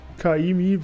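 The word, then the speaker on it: Ka'imi: Kaimi wird da ausgesprochen, aber das sind wohl 30 oder was weiß ich, 31 Buchstaben.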